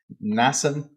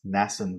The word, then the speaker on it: Mnason: to this fellow whose name is hard to pronounce because there's M and an N. I think it's just probably a silent N. Mnason of Cyprus, an early disciple.